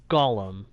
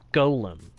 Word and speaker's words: Golem: I've just kind of accepted that most folks will say Gollum, like the character's name, instead of Golem, like the way it's spelled.